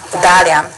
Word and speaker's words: Dalian: This character here is pronounced Dairen in Japanese and Dalian in Chinese.